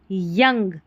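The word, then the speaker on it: young: यहां पर है यंग ओ यू आ रहा है। अ पढ़ा।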